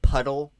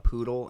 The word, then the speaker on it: poodle: I I pronounced it puddle the the chapter is called we get advice from a poodle and I pronounced it puddle the last episode my bad no but [ __